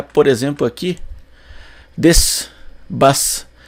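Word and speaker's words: です: que na verdade né você imaginaria que a pronúncia de su mas a pronúncia é des des com ligeira variação Dependendo de quem fala às vezes tem um des tem um som de um pouquinho mais forte às vezes é só des né não se escuta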